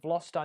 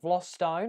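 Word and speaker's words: Vlastuin: Bev, it seems that you pronounce Vlostone as Vlostone. That's how it's actually pronounced, Nicholas. Vlostone, which is exactly what you've said. Yeah, Vlostone is how it's pronounced.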